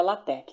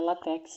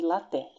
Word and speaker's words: LaTeX: A pronúncia correta é LaTeX, tá? Não é LaTeX, não. Porque aqui o X, né, na verdade é a letra grega aqui, então a gente chama de LaTeX, tá bom?